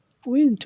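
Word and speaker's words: wind: উইন্ড অর্থ বাতাস। উইন্ড। উইন্ড অর্থ বাতাস। আর ওয়াইন্ড অর্থ বাকানো। একই রকম। অর্থাৎ শব্দ একই। উচ্চারণ ভিন্ন। উচ্চারণ যদি উইন্ড হয় তাহলে হবে বাতাস। আর ওয়াইন্ড হলে হবে বাকানো।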